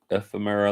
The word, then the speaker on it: ephemera: How do you pronounce that? Ephemera, like that's the old, like the vintage antique collectible pictures and whatnot.